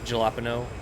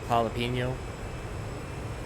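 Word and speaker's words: jalapeño: J is like an H. Gelopino. Jalapeno. Jalapino. Not jalapo.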